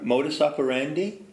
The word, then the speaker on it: modus operandi: stands for modus operandi remember modus operandi rhymes with Lotus candy but it ain't the